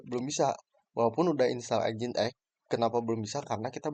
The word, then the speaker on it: Nginx: Nah, setelah ini di di addd di allow terus di reload dan statusnya sudah muncul di sini port 80-nya ini tuh ada bacanya engine X sebelum ganti ke website kita gitu sebelum clown itu munculnya engine X.